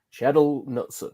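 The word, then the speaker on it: Kjetil Knutsen: and then you've got how do you pronounce it jared it's uh shadow sheddle knutson so yeah he's coming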